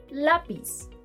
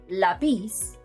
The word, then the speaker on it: lápiz: For example: Fácil (easy) Lápiz (pencil) Árbol (tree) Notice that it is the second-to-last syllable the one being stressed; otherwise, the pronunciation would be facil, lapiz, arbol, neither of which exists in Spanish.